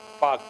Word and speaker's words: Palk: ठीक है, PALK, पाक, तो पाल्क नहीं बोलते उसको, है ना, पाक स्ट्रेट।